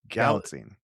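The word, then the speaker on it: Galitzine: Gat, how do you pronounce his name? Gallatine.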